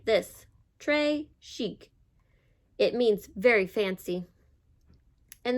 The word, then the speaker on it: très chic: Très chic.